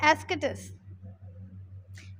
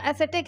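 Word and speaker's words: ascetic: अब आपका आता है एस्केटिस। वैसे इसका जो प्रोनाउंसिएशन है वो एक्टिस है, एसेटिक है, लेकिन इसका मतलब क्या होता है?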